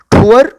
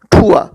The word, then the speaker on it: tour: टी चूंकि aspirated letter है तो इसको प्रोनाउंस करेंगे ठा साउंड से, ठुआ. अमेरिकन इसको प्रोनाउंस करेंगे ठुअर और ब्रिटिश इसको प्रोनाउंस करेंगे ठुआ, और देसी मेथड में हम इसको प्रोनाउंस करेंगे टूअर.